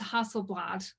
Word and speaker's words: Hasselblad: Angela, if you want to jump in and just tell me, is it pronounced Hasselblad?